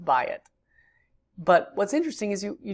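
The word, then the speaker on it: בַּיִת: We have certain words we've learned so far, like bayit has what's called a diphthong, an AYI diphthong. So you have a ptak, yod, hirik, and it's pronounced bayit.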